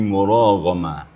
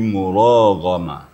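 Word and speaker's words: مراغما: Kemudian yajid fil ardhi muragama. Nah, ini ro dengan gin itu ee sama-sama tebal ya. Jadi cara membacanya memang harus hati-hati juga ya.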